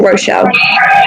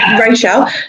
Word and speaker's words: Rachel: Is it pronounced Rachel or Rochelle? Rachel.